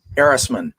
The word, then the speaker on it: Erisman: at uh pronouncing names how do we pronounce your last name erasman aerosmith okay so i was pretty close i've been saying errors